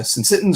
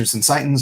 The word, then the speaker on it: syncytins: These are the syncytins or syncytins. I've heard it pronounced both ways.